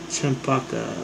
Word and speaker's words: champaca: Champaca. What does that rhyme with? Champaca. C-H-A-M-P-A-C-A. Champaca. What's that one animal that's, a chupacabra? There we go. This is funny. Champaca rhymes with chupacabra.